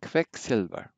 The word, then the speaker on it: Quecksilber: Then QU sounds like a KV. So this is Quelle, everybody? Quelle. Quecksilber. Quecksilber. This happens to be source, silver.